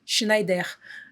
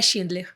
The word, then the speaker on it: Schneider: E aí, lá eles pronunciam Schneider. E eu acho isso o máximo. Que legal. Não é Schindler. Então, a gente não faz elevador.